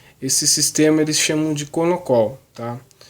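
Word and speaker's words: Konnakol: Pronuncia K-O-N-N-O-C-O-L, Konokol, tá?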